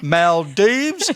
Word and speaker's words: Maldives: just come back from the maldives that's how you say it fred mel deebs and when she was